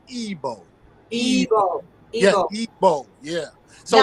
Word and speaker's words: Igbo: But that I has an E sound, so it's Igbo.